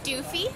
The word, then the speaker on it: Doofy: Doofy. Okay. Rhymes with Goofy.